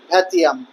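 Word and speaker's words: vingtième: ক্যাপিটেশনকে ফরাসি ভাষার উচ্চারণে বলা হয় ক্যাপিতাসিও এবং ভিংটিয়েমেকে ফরাসি উচ্চারণে বলা হতো ভ্যাতিয়াম।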